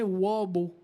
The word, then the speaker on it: wabo: en ferme, sauf qu'on n'était pas capable de prononcer le mot hobo, le H à l'anglaise. Fait que les Québécois disaient wabo.